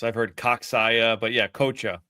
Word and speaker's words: Coccia: I've heard Coccia, but yeah, Coccia, like coach, Okay.